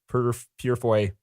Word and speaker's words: Purefoy: have to reshoot the scenes with this James Purefoy. That's how you say his name. Wow. Guy. They dubbed over Hugo Weaving's voice over this James Purefoy's action parts or whatever.